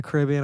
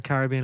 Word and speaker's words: Caribbean: It's like set on an island, like a Caribbean island or a Caribbean island. I can never figure out why I pronounce that word. Caribbean? I'll accept both. Both? Yeah, cool. Yeah, I've heard both.